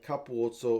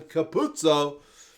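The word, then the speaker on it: Capuozzo: to the English commentary Andrew Mertens knows how to say his name but the regular commentator kept calling him Caputo which is something that's bugged me for a long time about the way people pronounce his name but hey what are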